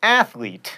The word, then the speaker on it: athlete: It's prescription, not prescription, and realtor is only 2 syllables, not 3. Same with jewelry, by the way, and athlete.